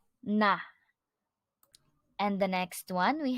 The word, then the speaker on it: 나: our topic noun I which in Korean is pronounced as na na and the next one we have here the